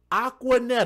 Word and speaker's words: Aquaneta: Aquaneta. It took me a moment to look at it. It's spelled a Q U Aqua and then Netta.